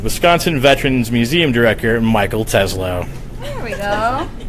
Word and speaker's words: Telzrow: Telzrow. Telzrow. That's right. Fix that. 2 syllables. It's going to start any second now. Not low. Telzrow. Telzrow. Gotcha. You got audio? Telephone in row. Telzrow.